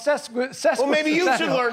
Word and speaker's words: sesquicentennial: No, I think it's sesquicentennial, but you didn't spell it correctly there. What did I do? You got it wrong. That's what you did. I spelled sequential. Oh, I'm sorry. Well, it's sesquicentennial.